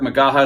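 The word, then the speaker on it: McGaha: Magaha is spelled M-C-G-A-H-A.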